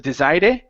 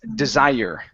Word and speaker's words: desire: a couple things here when you have an e at the end of a word instead of pronouncing the a it's silent okay so instead of Desire it's desire desire desire desire okay very good